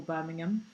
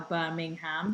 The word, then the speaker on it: Birmingham: I would have been impressed if they'd called it Birmingham, like the way Londoners call Birmingham. It's also the pronunciation of ham that people from North America say Birmingham. Yeah. Like we say Birmingham. Yeah, but they say ham, like the meat, ham.